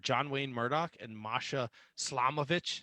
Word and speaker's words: Slamovich: John Wayne Murdoch and Masha Slamovich. Did I say her name right? Slamovich. Yep.